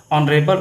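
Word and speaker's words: honourable: तो इसमें जो है देखा जाए ऑनरेबल उच्चारण आ से हो रहा है, अर्थात इसमें वावेल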